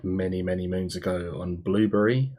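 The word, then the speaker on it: Blubrry: many moons ago on blueberry I think it's pronounced ibly really spelt BL you BR why I think because that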